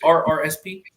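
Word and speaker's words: RRSP: Yeah, it's R RSP.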